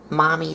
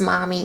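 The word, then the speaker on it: Mami: like her name's mommy this mommy is spelled m-a-m-i not m-o-m-m-y so i kind of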